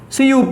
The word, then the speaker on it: cup: Then number two, A as in CUP. It's not Kuppa but Cup. C-U-P.